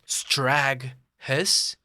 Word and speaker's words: Straghess: Now I'm seeing here it's supposed to be pronounced Straghess.